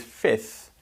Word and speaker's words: fifth: fourth fifth so with fifth although it's spelt with an f in the middle most people don't actually pronounce that letter so to make